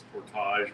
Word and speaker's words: Portage la Prairie: Well, it's like even Portage la Prairie, people, because of the French influence, think it's portage, but it's pronounced portage.